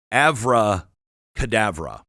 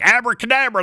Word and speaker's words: abracadabra: be found in Hebrew, but in Aramaic, it is avracadabra. And, us Westerners, we're all like me. We just mispronounce everything. We're like, abracadabra, that's what he said.